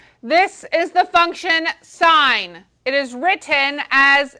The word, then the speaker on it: sine: this is the function sine it is written as s i n with theta do not call it sin it is not sin it is sine okay this one is